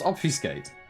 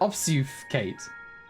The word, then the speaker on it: obfuscate: when we get there did she just mispronounce obfuscate did she pronounce it ops you've kate oscar skate that's